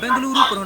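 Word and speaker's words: ಬೆಂಗಳೂರು: आपने बेंगलुरु नाम भी सुना होगा क्योंकि कन्नड़ भाषा में इसका उच्चारण बेंगलुरु ही होता है।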